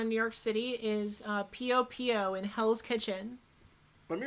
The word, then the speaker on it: Pio Pio: Anytime anyone like is new to the city and I just put it Popo. Is that how you say it? Pio Pio. P-O-P-O. No, it was in P-I-O-P-I-O. Oh, P-I-O-P-I-O.